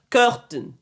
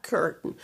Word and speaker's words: curtain: C'est pas cur Curtain. C'est pas curtain. Certaines personnes disent curtain curtain. Vous allez entendre beaucoup d'Américains ne pas prononcer le AI. Le AI dans ce mot est muet.